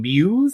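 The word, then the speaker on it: Mewes: Just a few other We get Kevin Smith and Jason Muse, I want to say is how you say his name. Yes. I all Jason Muse.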